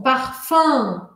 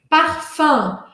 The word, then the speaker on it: parfum: Eu não sou da região de Paris, eu sou do sul da França. E por isso eu falo ele um pouco mais aberto, é o meu sotaque regional. Parfum, an, an, an. Eu deixo minha língua encostada aqui, ó, atrás dos dentes, de baixo. Parfum. Mas na região de Paris, eles falam com um sorriso.